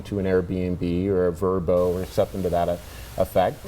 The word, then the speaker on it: VRBO: worked out great uh so it's not vrbo it's verbo they it's turbo verbo yeah you spell it that way but that's how they pronounce it i mean i just